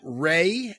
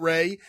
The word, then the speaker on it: Rhea: His name is Matt Ray, and I hope I'm pronouncing that correctly. It's R-H-E-A, so I'm pronouncing it like Shay, which is the same spelling but with an S.